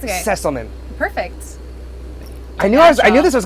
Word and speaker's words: Sesselmann: Sesselmann.